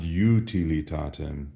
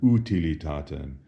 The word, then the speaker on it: utilitatem: Notice we don't say ad utilitatem, but rather ad utilitatem or ad utilitatem.